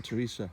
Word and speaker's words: Teresa: upset about is when Teresa is spelt incorrectly I think everybody knows what I mean it's not th er it's ter Teresa there's no H in her name as I say